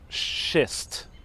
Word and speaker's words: schist: this big pile of schist don't don't mispronounce that word it's very close to another word big polishist right here this is